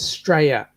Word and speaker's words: Straya: say staler properly right you might look at it as being a u s t r a l i a but when we actually pronounce it we pronounce it as straya St r y aaya